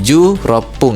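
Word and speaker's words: じゅうろっぷん: Nah, jadi rokunya tadi enamnya tadi ketika digunakan untuk menyebutkan menit diganti dengan rop pung. Jadi ju rop pung itu 16 menit gitu ya.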